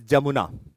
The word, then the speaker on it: Jamuna: Once Tista joins Brahmaputra, it is known as Jamuna. NCERT also mentions an alternative word by the base of pronunciation as Yamuna also.